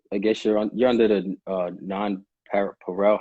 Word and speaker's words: NonPareil: And the I guess you're under the non-Pareil.